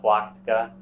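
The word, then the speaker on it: Tlachtga: hill within line of sight of Terror called twatica d-l-a-c-h-t-g-a in modern day in modern times it's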